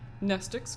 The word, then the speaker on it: mnestics: Mnestics, Class W, X, Y, and Z. Same Greek root word as mnemonic. The M is silent.